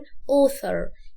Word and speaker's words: author: ركز في النطق، الجزء اللي في الأول ده هننطقه author. والتي اتش بتطلع لساني فيها عشان يطلع افرق كده ما بين صوت الاس والث، فنقول author.